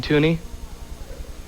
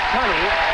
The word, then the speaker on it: Tunney: Gene Tooney? Yes, you're right. Gene Tunney. You said Tooney, but just a mispronunciation, and of course it would be spelled the same anyway, T-U-N-N-E-Y.